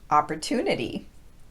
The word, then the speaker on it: opportunity: Sue and consumer and finally there's the t plus long oo combination which we hear in words like student tube and opportunity okay now that you